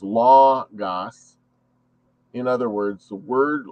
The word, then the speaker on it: logos: the universe and hence the word logos which is pronounced as law gas in other words the